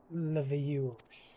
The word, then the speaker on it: Leveilleur: Oh, so that's how you pronounce it, Leveilleur.